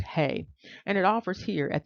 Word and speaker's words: ה: to that God code symbol which is pronounced hey and it offers here